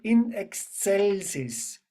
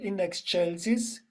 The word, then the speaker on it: in excelsis: follow the Gloria and we will do the Latin pronunciation not the Italian so we say in excelsis we not index Chelsea's in Excel system we do all the Latin pronunciation Okay so Gloria Gloria in